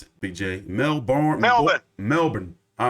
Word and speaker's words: Melbourne: Oh, wait, how do you pronounce it, BJ? Melbourne, Melbourne.